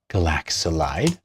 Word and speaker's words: galaxolide: wonderful 80 galaxolide oops not Galax galaxolide Now isn't it interesting